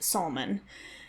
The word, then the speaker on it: Salmon: various rooms in the Solomon ruins and it's spelled salmon but it's pronounced Sulman so that might confuse